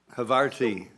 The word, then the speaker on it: Havarti: Havarti.